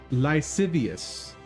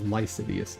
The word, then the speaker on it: lascivious: absolutely meant to be lascivious, I think is the word. Probably saying it wrong. Oh, lascivious. How do you pronounce that? Lascivious. Okay. Lascivious. Why did I think it was Lividious?